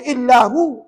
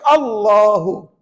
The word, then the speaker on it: Allahu: Mana ada orang baca illahu Mana ada orang baca allahullu tidak orang mesti akan baca Allahu ya Allahu okey tuan-tuan